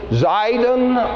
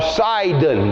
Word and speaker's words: Sidon: Close to it, the city of, it's either spelled with an S or a Z, Zidon or Sidon, depending on how the spelling comes out there.